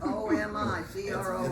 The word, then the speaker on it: Omicron: Omicron, O-M-I-C-R-O-N. It's Omicron. It's All right, not Omicron. BA5. If you listen to the TV announcers and read it in the paper, it's spelled correctly up there. All right. Omicron. There's not another N in it.